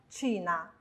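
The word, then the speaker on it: Cina: 我们来看它的发音，china， china。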